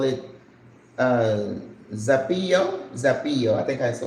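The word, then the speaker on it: zapallo: we call it uh zapio. Zapio. I think I saw zapio. Sapio. Sapayo. Sapayo. The Z is pronounced like an S. I know. Gre, are you watching so that you're my students? Sapayo.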